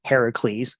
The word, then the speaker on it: Heracles: as part of her eventual revenge scheme slash beef with Hercules or Heracles, which is the correct Greek pronunciation.